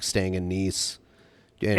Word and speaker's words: Nice: It's nice, not whatever you said. It's nice. Nice. It's pronounced like It's nice, France.